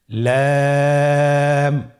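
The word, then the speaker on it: لام: লাম হরফটি উচ্চারণের ক্ষেত্রে অবশ্যই বারিক হবে এবং তিন আলিফ টেনে পড়তে হবে। আপনারা আমার সাথে বলুন লাম।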